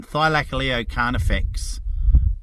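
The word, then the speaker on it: Thylacoleo carnifex: twist to that one thigh like a leo can't affects is the proper pronunciation of it oh yes i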